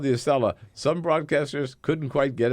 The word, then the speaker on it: Acela: I think that's my favorite, the Acelia. Acela.